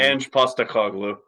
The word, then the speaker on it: Ange Postecoglou: I don't know how to pronounce his name. Ange Postecoglou.